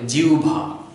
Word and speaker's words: জিহ্বা: শুদ্ধ উচ্চারণ হবে জিউভা জিহ্বানা বা জিবলানা এটির শুদ্ধ উচ্চারণ হবে জিভা যদি কারো মানে শুনতে